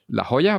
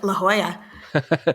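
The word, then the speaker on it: La Jolla: has been produced by La Hoya Playhouse laa how do you pronounce that one you nailed it La Hoya La Hoya playhouses without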